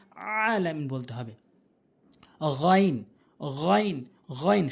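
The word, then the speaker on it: غ: গইন, গইন, গইন 7 লেখা রয়েছে। এখানে দেখবেন খর উপরে 7 লেখা রয়েছে, অর্থাৎ 2টি হরফ রয়েছে। 29টি হরফের ভিতরে 2টি হরফ রয়েছে যেটি হলকের শেষ থেকে উচ্চারণ হয়।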